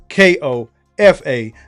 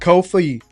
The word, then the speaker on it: Kofa: Once again, I've been your humble host, Kofa, K-O-F-A, not, not, not Kofi, not Kofi. Kofa rhymes with sofa.